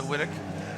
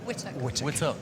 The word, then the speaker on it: Whittock: As, did I say your last name right? I feel like I'm butchering a little bit. Am I all right? Actually, for an American, you're okay. Yeah. Well, say it properly. Whittock. Whittock. Yes.